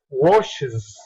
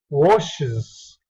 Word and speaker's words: washes: La pronunciación es washes, washes. Le pronuncias con una schwa, excuse me, y una z.